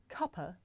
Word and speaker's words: cuppa: Now this is such a natural and common way to pronounce cup of that in British English the word cuppa actually means a cup of tea.